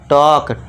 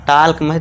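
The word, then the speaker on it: talk: बाद एल है, तो इसे क्या कर देंगे, साइलेंट, और इसे क्या पढ़ेंगे, टॉक, टाल्क नहीं पढ़ना, टाल्क नहीं, गलत हो जाएगा, टॉक।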